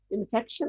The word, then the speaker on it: infarction: CT, इन्फेक्ट नहीं, इन्फेक्शन नहीं, यहाँ लफ्ज क्लियर कर लें। इन्फॉक्शन, आर साइलेंट होता है, INFARCTION, इन्फॉक्शन, इसको कहते हैं इन्फॉक्शन।